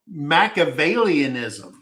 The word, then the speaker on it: Machiavellianism: Mac onlyism. Did I say that correct? Macavalianism.